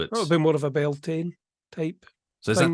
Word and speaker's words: Beltane: thing of yeah a bit more of a built-in type so is that pronounce Beltane it's not pronounced Bellon no it's definitely built in I guess it